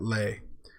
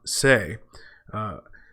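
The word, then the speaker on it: Sais: dread goddess's veil at Leh? Okay, that's actually a mispronunciation of the Egyptian town Se, which is referenced in a poem by Schiller, famous German idealist poet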